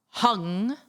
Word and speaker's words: Hung: Hung vajra pay. So h u n g which is the Tibetan pronunciation.